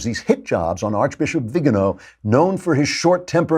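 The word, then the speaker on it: Viganò: But now with this letter from the Archbishop Vigano, I think it's pronounced Vigano, who says Pope Francis knew that there was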